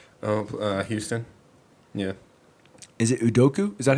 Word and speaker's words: Udoka: Is it Udoka? Is that how you say his name? Yeah, Udoka.